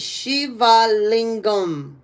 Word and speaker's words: Shiva Lingam: So, the first syllable she is pronounced like the word she. The second syllable va is pronounced like the word va. And the third syllable lingam is pronounced as g, sound similar to the word ling, found gum.